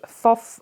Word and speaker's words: Thoth: pull here oh okay this is Thoth or tough depending on how you want to pronounce it Egyptian god and he